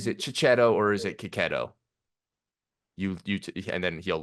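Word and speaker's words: Checchi: I realized I learned I've been pronouncing Marco keto's name wrong ketto someone someone commented on my YouTube video recently and like said he's like they were like I'm Italian this is how you pronounce Marco's name and it's and he said like it was like ketto huh I didn't know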